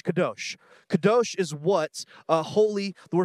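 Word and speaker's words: קָדוֹשׁ: original Hebrew word for Holy is this word pronounced kados kados kados kados kados is what uh holy the word for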